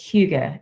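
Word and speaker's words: hygge: culture I think it's it's Swedish but it's Huga a h y g g e I'll pop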